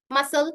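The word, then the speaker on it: muscle: जैसे कि है scissors, मसल, scene, Saint, science, accent.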